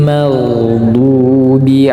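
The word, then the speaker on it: مَغْضُوبِ: saja dan bunyinya tebal magdu magdu bukan tipis bukan magdu tetapi magdu magdubi maghdubi du bukan du kalau du tipis itu Dal Sedangkan ini huruf do tetapi magdubi ya giril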